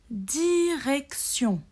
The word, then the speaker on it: direction: la réponse c'est parti direction direc tion té i o n à la fin on prononce sion ici le thé se prononce comme s sion direction par exemple quand